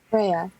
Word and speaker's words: Freya: Freya. Freya. Right. Ah, okay. Like the goddess.